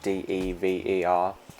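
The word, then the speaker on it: Deever: Diva, I believe it, Diva, like Dever, her name is, I believe. I'm Australian, so I'm going to pronounce it like Diva. It's going to sound like I'm saying D-I-V-A, but I'm not. I'm saying D-E-V-E-R, Diva.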